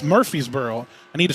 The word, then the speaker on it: Murphysboro: make sure I know where he's from it's Murphy's Boro I need to say it right it's Murphysboro